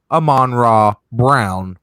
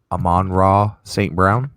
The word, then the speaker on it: Amon-Ra St. Brown: I got you Amon-Ra Brown, wide receiver, University of Southern California. You got who? Amon-Ra St. Brown, wide receiver. Brown. You said it wrong the first time.